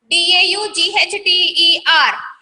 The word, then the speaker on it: daughter: D-A-U-G-H-T-E-R. G-H-T-E-R is there, but we have to read it as this one, daughter.